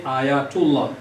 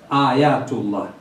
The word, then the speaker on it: Ayatullah: at the title Ayatullah, some people, when they pronounce, they say Ayatullah. Others say Ayatollah. It's not a big issue. But for us, because this title comes from Arabic language, we prefer to call it Ayatu. Ayatullah.